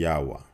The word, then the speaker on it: Yahwah: I want to say to you that the pronunciation according to these two alphabets whether it's paleo or it's mod it should be yahwa and um uh the first let's let's look